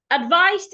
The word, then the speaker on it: advised: When you pronounce the word the ed sounds like a t.